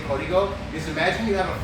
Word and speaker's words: Código: In Spanish, we say Código, but if Spanish is not your native tongue, which I completely understand, and that's fine, we're not all perfect.